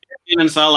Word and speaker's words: Dinenthal: Is that the correct pronunciation? Dinenthal, that's right, yep.